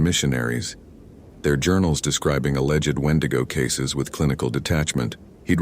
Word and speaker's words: Wendigo: Wendigo, wedo, wedo. The pronunciation varied by tribe.